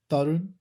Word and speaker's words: Tarun: Tarun.